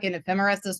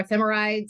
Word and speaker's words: ephemerides: of ephemerises to look at um or ephemerides I think is actually the the correct way to say that um so we're